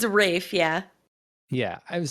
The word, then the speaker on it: Ralph: wickham fines is it not rayfeinz it's a rafe yeah yeah i would say i've i've heard but it's it's spelled that way it's spelled like ralph but